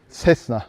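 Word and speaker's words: Cessna: fazla üretilen uçak modeli tesna 172 sesna Daha doğrusu böyle telaffuz etmek daha doğru bakın Burada yine başka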